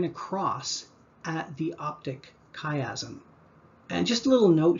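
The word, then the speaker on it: chiasm: from Greek typically and in the Greek language ch is pronounced as a hard k. So the optic kayazm um chimera chelating agent these are all things that start with ch.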